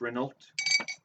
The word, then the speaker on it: Renault: It's pronounced Renault.